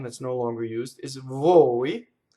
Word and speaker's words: voi: longer used, is voi, V-O-I. And then the word for then, which looks like it rhymes, is P-O-I, and now it's open, poi. So, noi, voi, poi. So those three words do not rhyme.